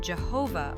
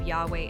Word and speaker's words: Yahweh: The name Jehovah arose later by combining the consonants of YHW with the vowels of Adonai. But many scholars believe Yahweh is closer to the original sound.